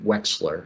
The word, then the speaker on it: Wechsler: it properly sure william wexler it's pronounced like there's an x in the middle of it excellent okay uh thank